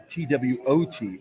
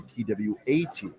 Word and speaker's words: twat: But when I don't say TWOT, I say TWAT. Oh, yeah. It's yeah. twat. That's how the British say it.